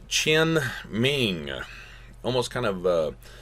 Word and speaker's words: Tian Ming: was this concept called Tian Ming almost kind of uh tin is almost kind of like ten but again kind of a faint chin ming almost has a ch there but mandate of heaven